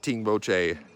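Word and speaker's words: Tengboche: And they're kind of pronounced like the same way, like all the locals say it the same way, like Tingboche.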